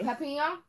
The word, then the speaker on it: Papillon: Papillon is the French pronunciation.